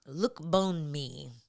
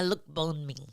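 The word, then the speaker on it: Lookboonmee: Uh how do you say her last name? Look Bone Me. Loma. Look Bone Me. Yes.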